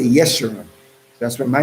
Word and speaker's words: Yeshua: middle name is yeshua means the upright that's in isaiah 44. the mossad says but there's no letter j in the modern hebrew or the ancient evil so we say yeshua that's what my name